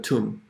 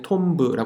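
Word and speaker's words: tomb: 부르시는 것 좀 더 툼 툼 은요 이게 어 스펠링 만 봄에는 톰 브라 구요 이거 보고싶은데 어떻게 검 잘못 읽는 우분투 미야 토끼는 소리가 나요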